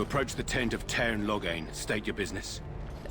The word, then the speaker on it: Loghain: You approach the tent of Tairn Loghain. State your business. Loghain? I'm sorry, it's Loghain. I know the different accents I know different accents pronounce different things, but still.